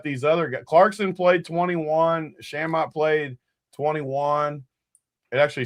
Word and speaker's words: Shamet: other Clarkson played 21, Shamet played 21. It actually says you pronounce his name Shamit, too. Sham- Shamit somehow. IT they said it's like dammit.